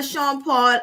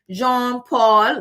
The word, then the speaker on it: Jean-Paul: amelia i love the the sean paul um gin um jean-paul that's how it's pronounced um ghetto um because